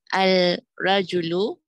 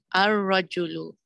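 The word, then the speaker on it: الرجل: Al-rajulu becomes ar-rajulu.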